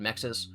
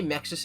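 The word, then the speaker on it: MXES: Um it's called Mexis. I don't think Mexus stands for anything. The way Mexus is pronounced sounds like mixie, which is a shorthand way of saying mixtosis.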